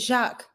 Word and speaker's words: Jacques: So is it Jacques? We don't pronounce the S in français.